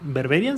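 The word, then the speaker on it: Berberian: acuerdo que katy berberián berberián se pronuncia de berbería tiene como la versión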